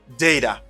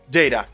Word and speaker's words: data: to pronounce this word how to say exactly depends on where you are if you are in england you might hear data even in america you might hear data and if you are